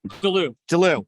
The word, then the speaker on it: Delloue: never know how to say your last name dulu awesome now i know how to say it